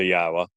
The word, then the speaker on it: Yahowah: how do you know that yah's name is pronounced yahwa you know uh languages change over time doesn't